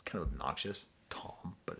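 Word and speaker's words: Thom: uh liner notes and I read it as Farm I didn't know I didn't know you didn't pronounce it's kind of obnoxious Tom but it's spelled Farm I'm talking about Tom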